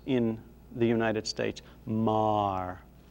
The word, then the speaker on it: Maher: in the united states mar as though it were m-a-r the the name now that is spelled m-a-h-e-r or m-e-a-g-h-e-r maher this